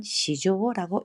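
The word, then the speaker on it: 市場: 거 말할 때 시장은 시조라고 있습니다 마켓도 마켓 마켓도 이렇게도 말할 수 있고요 아무튼 시장이라는 한자 두 가지로 있다는 거 꼭 기억하시고요 이번에이 기사는 일본 검색 시작이기 때문에 어느 쪽일까요 시조라고 읽어야 되죠 니혼노 겐스사커 시조 겐스타크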